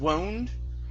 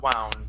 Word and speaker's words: wound: As the game wound down instead of wound. Mhm. Okay, this is wound.